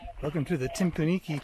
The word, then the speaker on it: Timpooneke: welcome to the tim kunike trail often mispronounced as timpaniki or nuki rather this i think